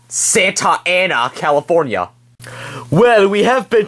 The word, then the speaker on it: Santa Ana: so far we been to S California it's pronounced Santa Ana you idiot well you're wrong Walter I think